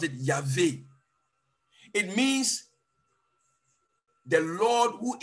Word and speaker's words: Yahweh: In the Hebrew, it is YHVWWH, but they pronounce it Yahweh.